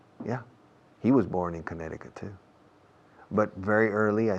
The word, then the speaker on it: Connecticut: La C en medio no se pronuncia. Connecticut.